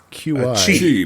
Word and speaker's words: qi: Chi, man, Chi. Come on. Is that pronounced Chi?